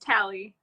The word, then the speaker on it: Tali: segue to uh ta am I pronouncing your name correct t uh it's tally Tally okay I'm like totally